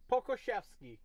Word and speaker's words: Pokuševski: Pokuševski, according to Jax.